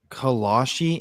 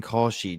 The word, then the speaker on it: Kalshi: Kalashi and Kalshi, Trent. You're adding like extra letters.